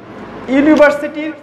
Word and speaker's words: university: ইউনিভার্সিটি, ইউনিভার্সিটির প্রথম you vowel হলেও আমরা যখন ইউনিভার্সিটি উচ্চারণ করি তখন ওয়াই ও ইউ এরকম হয়।